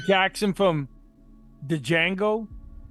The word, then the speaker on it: Django: Jackson from the Django. Like he's ready to start. The D is silent, hillbilly.